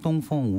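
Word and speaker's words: 东风: 그 그게 이제 중국어로 똥퐁이라고 읽는 건데 이게 다양한 계량형이 나오고 똥퐁 우시 다 같은 경우는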